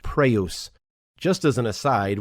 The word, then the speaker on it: praus: praise, but it's pronounced praus. Just as an aside, when you see a Greek word that has a Y in it, very often the Y is actually pronounced more like our U sound.